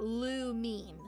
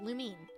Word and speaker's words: Lumine: I think it's pronounced Lumine. No, Lumine. Like the if you guys have ever played Genshin Impact, like the name of the main female character, Lumine.